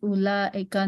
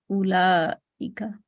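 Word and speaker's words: أولئك: Note that the waw in ulaika is not pronounced. The word is pronounced ulaika, not ulaika.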